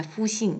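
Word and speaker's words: 复兴: 어 번역을 하실 때는 앞에 두 글자 푸싱 요거는 그대로 이제 발음대로 쓰시더라고요 해서 푸싱 호라고 번역을 하면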